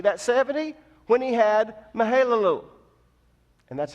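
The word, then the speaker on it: Mahalalel: years old see that 70 when he had mihaela loo and that's how you pronounce it believed on mihaela loo and Adam was 325 years old when mahalia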